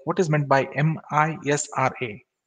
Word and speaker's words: MISRA: what is meant by m i s r a in in short it can be pronounced as misra misra is basically one possible